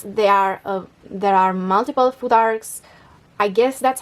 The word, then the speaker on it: futhark: the ancient Norse people named it futhark with a th in the middle and I don't know how they pronounced it and so that's how I pronounce it uh yet about